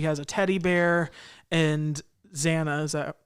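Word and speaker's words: XANA: girl and she has a teddy bear and zanna is that how you say it yeah zaina the computer program takes advantage of her being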